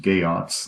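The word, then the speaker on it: Geats: spoil or necessary here the gay ops as I say here pronounced gay us not geeks are worthy noble people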